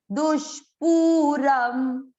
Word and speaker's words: दुष्पूरम: दुष्पूरम मतलब इसको लंबा नहीं खींचा और इसको लंबा खींचा है।